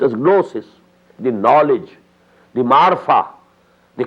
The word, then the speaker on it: gnosis: g-goo gnosis but it is spelled it is pronounced as gnosis the knowledge the Marfa the cognition recognition you